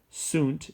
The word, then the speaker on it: sunt: trace at twos and sunt is they are like son s o n in Spanish queen way so if